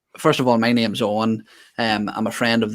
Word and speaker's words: Eoin: go about pronouncing it not like it's spelled but simply owen ian owen ian e